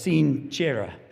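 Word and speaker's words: sine cera: very similar to sincere it would be actually pronounced as seen chera in the Latin many sources say that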